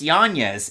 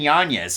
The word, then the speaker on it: Yanez: he's tied there with Adrian it's pronounced janeez Adrian Yanez so both those guys